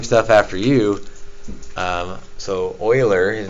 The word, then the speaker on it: Euler: is Euler um well either like the Houston Oilers not Euler but Euler and so it's possible